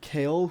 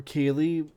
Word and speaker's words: Kayle: Next we have Kale, who I've seen played, or Kaylee, however you want to pronounce it, being played as either top laner or a support.